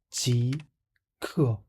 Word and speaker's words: 极氪: Next time you hear 即刻, don't mispronounce it again.